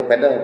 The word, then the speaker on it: padel: Padel bacanya yang olahraga baru itu.